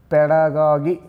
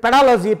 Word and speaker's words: pedagogy: ಇದು ಪೆಡಾಗಜಿಯ ಒಂದು ಶಬ್ದ, ಇದ್ರ ಆ್ಯಕ್ಚುಯಲ್ ಉಚ್ಚಾರ ಹೇಳ್ಯಾರ ನಿಮಗೆ, ನಾನು ನೆನ್ಪಿಟ್ಕೊಳ್ರಿ, ಸ್ವಲ್ಪ ತಪ್ಪು ತಪ್ಪು ತಪ್ಪು ಉಚ್ಚಾರ ಮಾಡಬೇಡ್ರಿ, ಇದ್ರ ಮಾನ ಮರ್ಯಾದೆ ಹರಾಜು ಮಾಡಬೇಡ್ರಿ. ಇದು ಇದೇನೈತಲ್ಲ, ಇದು ಇದ್ರ ಉಚ್ಚಾರ ಬರೀತು ನೋಡಪ್ಪ ಇಲ್ಲಿ, ಪೆಡಾಗಾಗಿ ಪೆಡಾಗಾಗಿ. ನಾನು ಸುಮ್ಮನೆ ನಿಮ್ಗೆ ಕ್ಲಿಯರ್ ಆಗಲಿ ಅಂತೇಳಿ ಪೆಡಾಗಾಜಿ ಅಂತ ಹೇಳ್ತಿರ್ತೀನಿ, ಪೆಡಾಗಾಗಿ. ಆಮೇಲೆ ನೀವೆಲ್ಲರೂ ಏನಂತೀರಿ, ಇದ್ರದ್ದು ಮೂಲ ಉದ್ದೇಶನ ಹಾಳು ಮಾಡಿಟ್ಟಿರಿ, ಇದಕ್ಕೆ ಪೆಡಾಲಜಿ ಪೆಡಾಲಜಿ ಅಂತ ಓದ್ತೀರಿ.